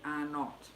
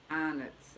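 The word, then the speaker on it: Arnott's: way we pronounce it people say it the way it's spelled are not but we say anitz i suppose that's because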